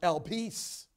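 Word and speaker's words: ἐλπίς: greek word underlying it the greek word is pronounced el peace means a conviction it means a conviction this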